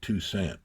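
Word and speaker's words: Toussaint: Tusant tusaint he pronounced it two cent but that's um uh and so I moved there.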